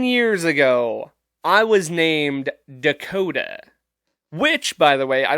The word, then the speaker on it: Dakota: name and i'd say dakota and they would go cody and i'd say nope that's not what i said at all there's an